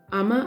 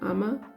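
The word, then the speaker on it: Amma: But yeah, I still cringe a lot when she describes the teen girl, especially Ama. I think that's how you say her name, Ama, like her half-sister.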